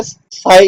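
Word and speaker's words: psi: हम एक Greek letter साई इसको हमने साय ड करना पी साइलेंट पीएसआई ठीक है इट इज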